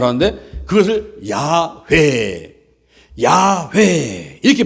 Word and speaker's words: 야훼: UIHWH는 자음에다가 아도나이의 모음을 섞어가지고 발음을 하는데 그것을 야훼 이렇게 발음합니다.